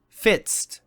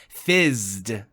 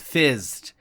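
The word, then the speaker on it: FZZT: I've always thought the episode was pronounced Fitzed, but because of the buzzing noise that happens in the episode, it's actually pronounced Fizzed. So that's the actual name of the episode, Fizzed.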